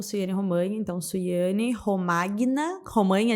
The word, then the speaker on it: Romagna: Nas redes sociais eu tô como Suiane Romanha, então Suiane Romagna, Romanha igual lasanha, né? Uhum. Se escreve lasagna, se fala lasanha, Romagna, Romanha.